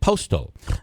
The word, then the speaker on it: Postol: Postol, is Megan Postol, who is the author of the Remsen and Steuben.